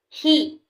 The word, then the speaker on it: He: He, pronounced like her with a yawn, which is associated with the heart.